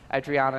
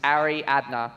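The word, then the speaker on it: Ariadna: informed by the crowd her pronunciation is Ari adna isova when she comes through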